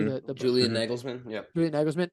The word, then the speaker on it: Nagelsmann: the tactical battle that how How do you pronounce his name correctly? Nagelsmann. Did I say that correctly? Mhm. The Julian Nagelsmann.